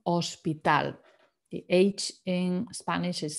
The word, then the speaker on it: hospital: spelling is the same just slightly different um pronunciation hospital the age in spanish is silent so let's pretend it's not there hospital there's something else i wanted to mention here